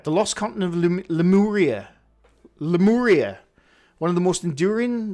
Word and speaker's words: Lemuria: It's pronounced Lemuria.